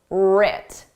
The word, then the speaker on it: writ: The W is silent, but in spelling it's there.